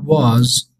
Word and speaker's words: was: خب تلفظ واز و ور. ببینید بچه‌ها کلمه واز تو شکل مثبت باید حالا سوالی هم در واقع منفی ندیگه مثبت یا سوالی. واز صدای آ نمیده خونده میشه ای کوتا واز مثلا میگم واز دقیق کن چی میگم.